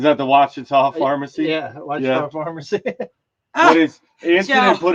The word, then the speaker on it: Ouachita: It was something I probably couldn't pronounce. Chikalaka Farm Fancy. Is that the Ouachita Pharmacy? Yeah, Ouachita Pharmacy.